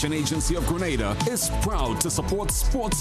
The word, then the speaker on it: Grenada: So, today like we Germans say, we are in Grenada. But I heard in English it's called Grenada. Say it right. Grenada.